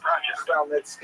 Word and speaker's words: Khmelnytsky: This is just the way it's written in Polish, and if you understand Polish phonetics, you'll know that it's pronounced Khmelnytsky, which is also not so easy to pronounce, but that's not our job at any rate.